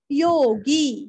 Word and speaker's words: योगी: कथितो धीरस्व भारभृत कथितो योगी योगी का गी दीर्घ योगिशस विसर्ग का हल्का सा स, हल्का सा लेना है वो, योगी का गी दीर्घ लेना है और हल्का सा स का उच्चारण।